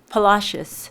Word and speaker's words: Palacios: Palacios.